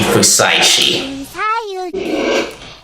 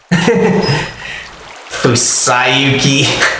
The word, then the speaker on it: Fusaishi: Haruaki Fusaishi. Fusayuki. Oh my gosh. This is kind of cute, but funny how she mispronounces his name.